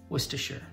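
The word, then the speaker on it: Worcestershire: after a sauce that is famously difficult to pronounce was to and then there's another place that you will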